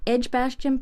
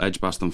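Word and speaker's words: Edgbaston: do you have that address yes it's on edgebastian Park Road and hold on you'll have to spell edge Boston for me I've never heard of it of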